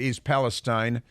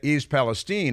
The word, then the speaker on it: East Palestine: He called it East Palestine, which is no place. But East Palestine is in Ohio, and he still hasn't been there.